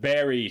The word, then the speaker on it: Barry: It's not Barry Sanders. It's Barry with an A. It's not like a strawberry.